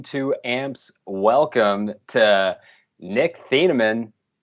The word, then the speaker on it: Thieneman: a warm between two amps welcome to nick thienemann how you doing buddy did i just die